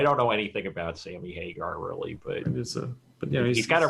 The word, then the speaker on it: Hagar: He's been fired by Hagar. Prince. According to Wikipedia, he worked with Sammy Hagar, and I missed the opportunity. No, I don't know anything about Sammy Hagar really, but he's got a really funny sounding name.